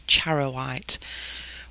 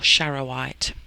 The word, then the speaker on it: charoite: to pronounce it so i'm pretty sure it's chara white or shara white but anyway that's what